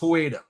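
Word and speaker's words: Xweda: In the language, it's written Ex-Weda. In the phonetic script, it's pronounced Hueda.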